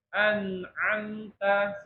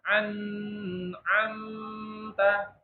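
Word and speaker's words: أنعمت: ya dan seterusnya anamta segitu J jangan anamta itu kepanjangan karena dia bukan termasuk eh gun sempurna ya dan selain ini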